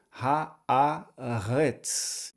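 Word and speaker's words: הָאָרֶץ: Então ha, a. E a terceira e última sílaba, o resh, o segol e o tsad sofit. Então ficaria retz, retz. Pronunciando tudo, ha-a-retz.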